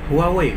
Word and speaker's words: Huawei: apa itu contohnya ya Huawei Huawei Hai Keh ternyata ini dibacanya Wah weh weh weh weh weh seperti itu kemudian Asus Asus Yesus